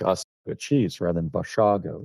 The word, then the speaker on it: Basiago: it's always, it's mispronounced as Basiago, Hmm. like us cheese rather than Basiago.